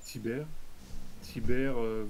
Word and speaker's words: Tibère: muet, mais il n'est pas non plus prononcé. Ouais, Donc d'accord. c'est Tibère.